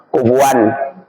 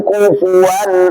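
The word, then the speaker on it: كُفُوًا: yakun lahu kufuan gitu ada yang baca walam yakun lahu kufan gitu tapi kalau qiraah kita ee ee riwayah Asimfaz riwayat Asim bacanya walam yakun lahu kufuwan ahad gitu.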